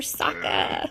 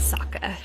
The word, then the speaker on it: Sokka: turned out okay it's time for soccer that's one too many syllables there bub now saka is going to be